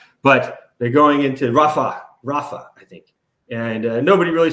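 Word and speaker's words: Rafah: they call it now they're going straight into fuah or not fuia but Rafa whatever shoot I shouldn't say it like that I know the name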